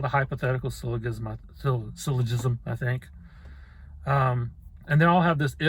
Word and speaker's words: syllogism: of syllogisms i've been i've said syllabism for years and years and didn't realize i was mispronouncing it until just maybe a couple of years ago but i still keep saying it syllogism it's syllogism okay so anyway there's modus